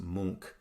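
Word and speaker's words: Munch: now let's take a look and it's not pronounced MCH uh just make sure that this is coming from Norway and so it's pronounced Mo uh let's take a look at scream so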